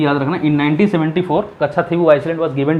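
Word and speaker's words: Kachchatheevu: Spelling होगा इसका KACHATHEEVU, कच्छाथीवु Iceland, ठीक।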